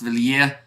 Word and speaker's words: Villiers: And Villiers will be pronounced Villiers.